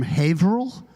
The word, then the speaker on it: Haverhill: Okay, so I'm from Haverhill, which is spelled Haverhill, but in Massachusetts, as you may know, we try to get rid of at least one syllable in every city.